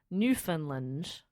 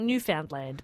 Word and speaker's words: Newfoundland: off from Trepassey Harbour, Newfoundland. I always say it wrong, but a Canadian friend told me how to say it. It looks like Newfoundland, but it's not Newfoundland. It's Newfoundland. How now, Newfoundland? Newfoundland.